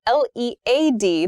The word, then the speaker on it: lead: is Le Led Led Le has the same pronunciation as the noun form of l e a d lead as a pencil material and led past tense